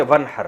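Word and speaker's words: وَانْحَرْ: हैं अरबी में नहर तो वन असल में था व इन हर पढ़ा जाता है मिला के वन हर तो अलिफ अलिफ साइलेंट हो जाता है वन हर फस सल्ली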